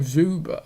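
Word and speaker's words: Dzyuba: Oh, Zuba. Oh, okay. It's Zuba, but I think the D is silent.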